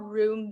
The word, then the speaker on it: Rume: And then I think another thing too is there is a platform, it's called Room Video. So it's spelled RUME.